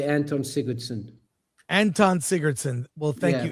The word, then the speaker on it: Sigurðsson: Anton Sigurðsson. But in your case, you say Anton Sigurðsson.